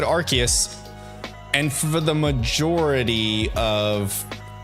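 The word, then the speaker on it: Arceus: say archus I say archus I know I know there's out there's friends of mine that say arus I say archus I don't know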